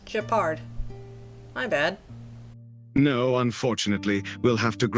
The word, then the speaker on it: Gepard: So it's Gepard.